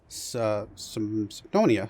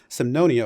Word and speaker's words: Semnonia: as the nation of symphonia sorry I keep forgetting how to pronounce it for a second there Sam no Nia over here we did